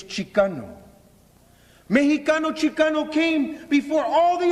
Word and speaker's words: Mexicano: The Mexica came to refer to themselves, listen, as Mexicano. M-E-X-I-C-A-N-O. In Spanish, it's Mexicano. In English, it's Mexican. They also refer to themselves as Chicano. X-I-C-A-N-O, meaning children of the earth. In Spanish, it's Chicano. Mexicano, Chicano came before all the other labels.